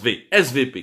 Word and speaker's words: SWP: fameux svp weight swp mais en allemand le w se prononcent vsv qui n'est cdu allemande